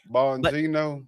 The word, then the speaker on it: Bongino: Bonino.